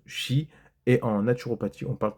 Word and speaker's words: qi: chinoise on parle de K QI qu'on prononce Chi et en naturopathie on